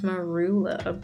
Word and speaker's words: Marula: It's pronounced Marula, but you roll.